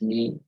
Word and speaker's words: knee: Also, in the word knee, knee is the joint that combines your thigh and calf. It's knee. Also, no. No. We the word no, the opposite of yes. Yes, no. That's how we pronounce it as well. It's not a no, woo, no, yeah. So, no, just no. Okay. That's silent K.